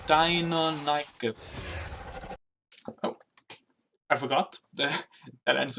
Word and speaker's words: Deinonychus: So these are the red these are Deinonychus. I can never say it right. Every stream I say it wrong. Deinonychus. It's a double vowel with ends that mess me up. Deinonychus.